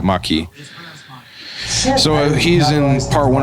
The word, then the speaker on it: Maquis: the the the maquis i don't know how that word is pronounced maki well it's not marquee it's not marquee it's it's yeah maki so he's in part